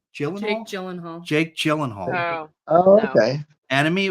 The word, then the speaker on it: Gyllenhaal: it was um enimy by how do you pronounce it Gyllenhaal Gyllenhaal Gyllenhaal Jake Gyllenhaal okay enemy it was like